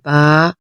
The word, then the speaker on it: ب: سے پرہیز کریں گے، جیسے بے، تے، تے، ایسے نہیں بلکہ عربی لہجہ، عربی تلفظ میں ادائیگی کریں گے، با، تا، سا۔ اور ان 29 حروف